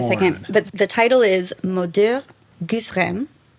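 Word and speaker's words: Mots d'heures: Gousses, Rames: But what it really is, when you say it properly in French, which I will struggle to do, it's Moder Gusrem, Mother Goose rhymes.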